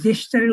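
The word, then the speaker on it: gesture: দেখবেন যে এই জেস্টারের উচ্চারণ ওখানে গ না, ওখানে জে দিয়ে লেখা, জে মানে জ, তখন উচ্চারণ হবে কি জেস্টার।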